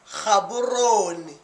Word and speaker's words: Gaborone: The letter G in many words is replaced by an English H sound, like in the name for the Botswana capital city, Gaborone.